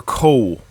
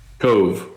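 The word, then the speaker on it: Kove: Now, is it pronounced Cove or Coe? Because I've heard it both ways. Cove, V-E.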